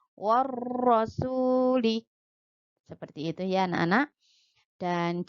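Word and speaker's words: والرسول: Meskipun ada hurufnya di sini tapi kita tidak membacanya. Warro, jadi langsung ke huruf ro-nya. Warrasuli.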